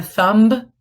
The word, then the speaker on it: thumb: Thumb, what letter is silent? The B at the end. It's not a thumb, it's a thumb, but we need to write the B.